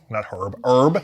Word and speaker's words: herb: There was like a herb, H-E-R-B. It was an herb oil going on in the grits. It's the British pronunciation.